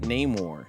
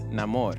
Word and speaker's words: Namor: Atlantis it's um and it's not name War it's Namor now I know people will still say name War but um just you know for pronunciations and and correctness it's Namor for those that don't